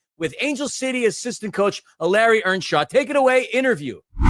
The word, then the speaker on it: Eleri: It is such a joy to have with us Angel City's own Eleri, that's the way you'd pronounce it here, but Eleri, as you would pronounce it in Wales, Earnshaw.